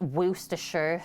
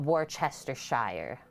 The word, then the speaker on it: Worcestershire: that's my full name it's pronounced worcestershire sauce not worchestershire like she's done a